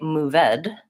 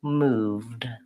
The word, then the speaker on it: moved: for here is that I don't want to say move ed the e is silent I just say moved I don't want to